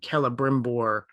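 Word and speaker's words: Celebrimbor: in token speak uh if you start a name with a letter c it's always a hard c so like the name kelebrimbor is a c-e-l-e it's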